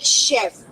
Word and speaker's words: chef: The word like chef. What is the sound of c h here? Sh.